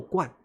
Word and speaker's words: 冠: 冠，好，他们念冠，那我们就念冠吧。